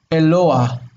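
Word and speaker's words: אֱלוֹהַּ: This is closed because of the mapik here. Exactly, yes. We've got the first syllable is e, right? Second syllable we have long o, lo. Hello. And then we've got the A-H. The H by itself is a consonant in this case. Eloa. Eloa. Eloa.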